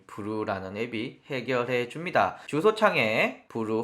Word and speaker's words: Vrew: 벌어지는데, 그런 걸 이 브루라는 앱이 해결해 줍니다. 주소창에 브루 홈페이지에 접속을 해 주시고요. VREW라고 해서 어떻게 읽어야 돼? 라고 했더니 브루라고 읽는다고 합니다.